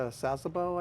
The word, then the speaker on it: Sasebo: Yeah, they usually, the supply chain, as far as I know in the Korean War, they'd go back to Sasebo, I believe it's pronounced, in Japan and reload, restock, and come back out.